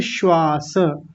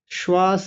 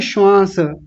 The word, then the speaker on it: श्वास: और यहां देखिए श्वास श्वास कैसे लिखा हुआ है? ऐसे तालव्य शकार आधा है। दंत्य सकार पूरा है। दोनों का उच्चारण अलग-अलग आना चाहिए। कल अच्छे से समझा दिया था। श्वास और कुछ लोग तो बोलते हैं श्वास। अपनी ओर से बिंदी लगा देते हैं।